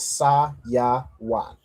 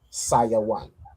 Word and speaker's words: Sayawan: Sivan in Hebrew is Sa Ya Wan. Saya Wan.